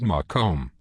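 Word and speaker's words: Macomb: special message for your friends at Henry Ford make hospitals yes I do and I like the way you say make him actually it is pronounced mome I'll try to remember that Al it's Larry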